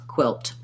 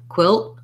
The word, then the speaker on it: quilt: to the l and quilt is just like quill but we add the t sound quilt so you might say it with a pronounced t or you might also hear quilt quilt if we do a stopped t there we just go really short on the l and cut off the air to mark that t sound we'll do the